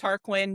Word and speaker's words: Tarquin: Tarquin. Yeah. Okay. It's actually pronounced Aon.